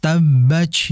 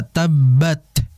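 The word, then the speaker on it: تبت: antara pembaca Al-Quran ini berlebihan dalam membacanya, sehingga seakan-akan seperti C. Tabbaj yada tabbaj. Nah, ini hati-hati. Berbeda dengan kita membaca tabbat, bat, ya. Tabbat dengan tabbaj.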